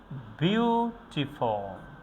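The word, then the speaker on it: beautiful: যেমন আমরা বলি যে বিউটিফুল, বিউটিফুল, বিউটিফুল, বিউটিফুল, বিউ এটাকে আমরা স্ট্রংলি উচ্চারণ করেছি, টিফল এটাকে আমরা উইক সিলেবলে উচ্চারণ করেছি, বিউটিফুল।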